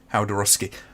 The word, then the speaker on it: Jodorowsky: It's pronounced Haldorowski. Yeah, that's kind of what I figured it was. So, I watch these videos and they mention him. It's always Jodorowsky.